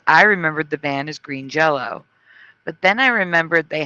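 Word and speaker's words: Green Jellÿ: But the band has always been Green Jello, because Y is pronounced an O.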